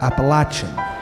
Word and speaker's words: Appalachian: The Appalachian Mountains, the largest mountain range in the eastern United States, which is pronounced up here Appalachian.